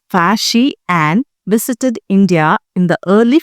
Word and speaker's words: Faxian: Chinese traveler Fasian pronounced as Fasi and visited India in the early 5th century CE.